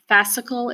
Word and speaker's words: fascicle: a fascicle that's number two on your diagram fascicle is how you say that it's kinda like